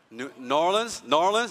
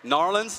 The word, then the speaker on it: New Orleans: New Orleans, you just say like that? Narlands, like that? You didn't even pronounce it, just Narlands.